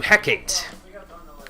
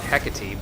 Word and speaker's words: Hecate: persona from Carmen into Hecate. Or, as she pronounces it, Hecate, but I don't agree with that pronunciation, so...